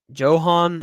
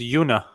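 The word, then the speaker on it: Joona: is that close enough you spell his first name j o o n a oh it's Yuna all right uh I'm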